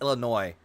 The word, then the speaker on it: Illinois: to was in Illinois when it's Illinois the S is silent eat like the Romans